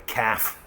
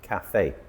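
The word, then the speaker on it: café: A lot of British people, especially round about the London area, call it a calf. I'm going to the calf. But the correct pronunciation is cafe. Two syllables. Cafe.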